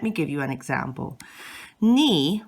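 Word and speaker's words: 你: give you an example knee which means you has accent number three you can see it goes down and then back up so knee is not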